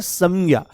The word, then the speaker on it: संज्ञा: इसको बहुत शुद्ध उच्चारण करेंगे तो संज्ञा शब्द है संज्ञा। देखो हम कहते हैं संविधान। तो आपने क्या बोला? आपने अनुस्वार में म को बोला। संविधान मकार बोला आपने तो ये शब्द है